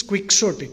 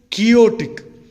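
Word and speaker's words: quixotic: ideal State and another opposite for practicality is quick-story q-u-i-x-o-t-i-c some people pronounce it chaotic okay quicksortic means impractical extremely impractical Don Quixote was a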